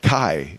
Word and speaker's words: Kai: Busy on the show floor, but we managed to grab Kyle. I hope I said that right. Kai.